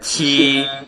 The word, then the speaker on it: qi: This and a chi cannot be and this pronunciation called chi. It's not correct. Qi, qi. Yeah, this chi is not correct.